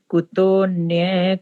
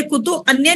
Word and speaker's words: कुतोन्य: यज्ञ शिष्टामृत भुजो यान्ति ब्रह्म सनातनम नायं लोकोस्ते यज्ञस्य कुतोन्य कुरु सत्तम। हमने कुतो अन्य नहीं बोलना, इस एस को साइलेंट रखा जाता है। कुतोन्य, ओ के साथ ही न की आवाज आनी चाहिए।